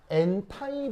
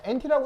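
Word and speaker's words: anti: 그래서 이 표현은 뭐냐면 바로 엔타이 본딩. 안티 아니에요? 의 관습 표현입니다. 예, 엔티라고 해도 됩니다. 상관없어요. 엔티, 엔타이 다 같은 말입니다. 같은 발음이에요.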